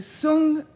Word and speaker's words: Song: the Sun that's not misspelled. It's spelled Song and it's called Sunung. The Sun dynasty.